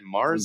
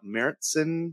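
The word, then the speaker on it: Märzen: the week is Oktoberfest like David said Mars and it's good uh meritson if you want to get real real nerdy about the pronunciation um it's obviously an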